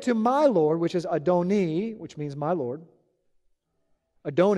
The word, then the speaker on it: Adoni: The Masoretic text, which is 1,000 years later after Yeshua, clearly shows that the second Lord is pronounced Adoni instead of Adonai.